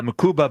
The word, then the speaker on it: Mukuba: Uh, Mukuba, how you pronounce his last name? Uh, Makuba, but he said Andrew, it's He goes by Drew, so it's Drew Makuba.